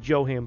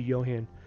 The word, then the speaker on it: Johan: with Johan inside, and a lot of people say Johan, but it's actually Johan.